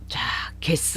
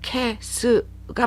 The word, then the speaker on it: けす: 계시고무 개쓰라고 이야기를 하는데 개수가 원래로 발음하려면 캐스가 맞죠 근데 그 일본 단어의 첫 글자가 다그마 현상이 나타나는 단어들이 상당히 많아요 그러니까 이런 거를 주의해서 이렇게 캐스라고 안 하고 게스라고 이야기하는 이유가 그렇다고 해서 니고리가 붙은 다금 발음이냐 그건 또 아니에요 그러니까 우리나라의 키읔과 기억 사이에 발음이다라고 대충 이렇게 짐작을 하셔야